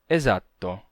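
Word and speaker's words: esatto: o caso de exato em italiano você não vai ter exato com um S duplo e sim exato exato um s simples rápido breve E sonorizado então quando a palavra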